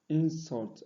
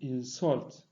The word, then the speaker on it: insult: Moreover, there are some English words that are stressed on the first syllable when used as noun, and on the second when used as verb. For example, we have contract and contract, insult and insult, contrast and contrast.